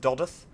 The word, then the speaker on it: Dodworth: other such wonderful places doth spelled dodworth but pronounced doth and and down to